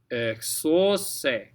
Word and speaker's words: exaucé: So D, that U-E combo, again, D, narcisse, exaucé, exaucé. Okay, EX, and then AU makes an O sound. CE is se.